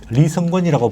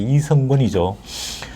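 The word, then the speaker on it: 리선권: 리성권이라고 네. 북한에서는 발음하는데 우리나라 발음하면 이제 이성권이죠.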